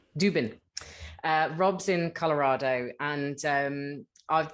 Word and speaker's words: Dubin: How do you pronounce it? Dubin. Dubin.